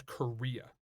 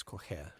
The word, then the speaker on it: Correia: My last name's Correa. with double R's gonna and say- 4 vowels. Technically, it's Colhea, but whatever.